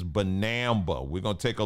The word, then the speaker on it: banaba: I was saying the banana leaf tea. No, it's not banana. It's banaba.